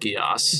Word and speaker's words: geas: that actually is pronounced Gias.